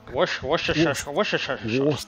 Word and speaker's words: Worcestershire: It's like that sauce that no one knows how to pronounce. What's it called? Or something. Worcester sauce. That's the one. Worcester sauce. Yeah. Worcestershire sauce. Worcester sauce. Worcester. That one.